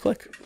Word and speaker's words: clique: other there were asian cliques in our high school you actually pronounce it clique yeah it that's how you supposed to say it right is it i thought it was just click it i i don't know